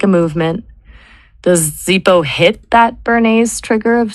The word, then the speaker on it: Zippo: Z i p o like zip it to me. It's fast. It's two syllables. It sounds like a movement. Does Zippo hit that Bernay's trigger of speed and efficiency?